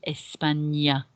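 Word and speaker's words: España: top of the end the accent on the n changes the pronunciation of that letter n n a to n so it becomes espanya and you'll notice that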